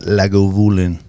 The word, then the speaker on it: Lagavulin: a shot of that Lagavulin.